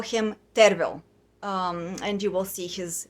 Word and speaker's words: Tervel: the proper name to spell his name to pronounce his name is terrible t-e-r-v-e-l or as his full name goes and